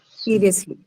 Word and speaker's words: seriously: So, whenever you have adverbs, definitely the stress is on the first syllable.